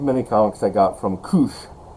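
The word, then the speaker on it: Kuš: comics I got from Koosh. Koosh is spelled K-U-S, and the S has a little diacritical mark that looks like a little U on top of it, and it's Latvian.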